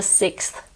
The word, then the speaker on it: sixth: it that was sarcasm I know it's quite a difficult word because there's a followed by earth and it's particularly hard in phrases such as the sixth sense it's not as easy to cheat with this word as it is for clothes but if you really find it difficult you can just like with clothes drop the th people will still understand